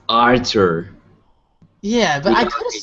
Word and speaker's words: Artur: right guys thank you arter art said your name wrong arter it's okay real quick is it Arthur or Arthur it's Arthur yeah but I could have sworn a while